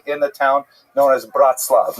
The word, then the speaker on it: Bratslav: And then he made his fame, really in the town known as Bratslav, not to be confused with Bratislava, and it's usually pronounced in Yiddish as Breslov. The Nurm Breslov is just a Yiddish, there are many of these.